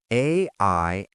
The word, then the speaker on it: aisle: It is spelled Aisle. But Sarah, how do we pronounce that? This is a classic trap. The S is completely silent. It rhymes with I'll, like I will.